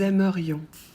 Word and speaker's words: aimerions: Pour nous, on ajoute IONS qu'on prononce ion. On ne prononce pas le S et faites bien attention à prononcer le I parce que si vous l'oubliez, ça devient le futur.